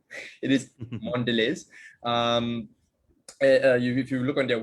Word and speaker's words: Mondelez: they turned into mondelez and yes it is pronounced mondelez not mondelez it is mondelez if you look on their wikipedia page it